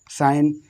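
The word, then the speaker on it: sign: आगे देखो आठवां हमारा बोल रहा है कि यदि एन से पहले जी आ जाए तो जी हमारा कैसा रहता है, जी हमारा साइलेंट रहता है, किस रहता है, जैसे रैन, साइन, डिज़ाइन, रिजाइन, सब चीज़ बताई दी, इसकी बताई दी।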